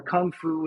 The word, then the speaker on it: 功夫: And, the biggest thing is that unfortunately, Gong Fu or Kung Fu in Cantonese, how they pronounce it in English, everyone thinks it means martial arts, and it doesn't.